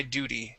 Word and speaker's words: duty: yeah so that t that t will be pronounced like a D sound we say do D Duty uhhuh I had done my